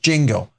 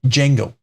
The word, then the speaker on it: Django: It's pronounced just Django. The D is silent. In other words, the D is silent. It's just Django.